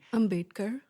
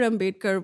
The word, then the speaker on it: Ambedkar: You speak about Dalit leaders, I hope I'm pronouncing his name correctly. Ambedkar.